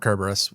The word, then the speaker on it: Cerberus: since we've talked about Cerberus and or Cerberus depending on how pretentious you want to be um whether or not you put a hard C on that I should point out